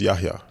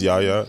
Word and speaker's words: Yahya: name is pronounced it's yahya yes so the h is not silent uh everyone says yaya it doesn't bother me